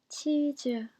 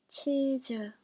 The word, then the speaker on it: 치즈: 치즈, 치즈. The S sound is pronounced more like Z in this case, so we do write it like cheese with a G, but not cheese.